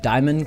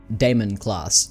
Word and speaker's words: Daimon: I started pronouncing it demon class I had people tell me it was pronounced the same way that Matt Damon's name is pronounced so um that would be Damon class now please correct me